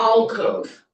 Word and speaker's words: alcove: What's the name of the Alcove. Yeah, alcove, like all cove, that's what it's spelled.